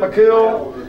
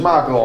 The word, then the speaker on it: Michal: David's wife looked at him, Michal. I call her Michal because if you pronounce it another way, it's just Michael. And I don't believe a woman's name sounds too right saying Michael.